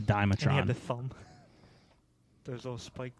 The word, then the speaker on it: Dimetrodon: his back i like the dimetron that's not how you say it but that's not what you're done yeah the the one with the big fin but it was uh i always called it the dimetrodon the thumb those little